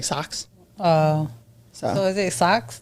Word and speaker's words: Sox: that sounds like chance it's spelled like s-o-x like the social experiment like the White Sox like socks uh so is it